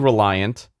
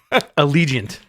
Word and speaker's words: Allegiant: me my bra i should know this thing reliant i had it in the freaking notes allegiant allegiance unless unless mg geeks spell that coming let me let me set this